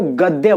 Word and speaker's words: गद्य: मैंने बोला गद्य, उसको गद्य बोलते हैं, गध नहीं।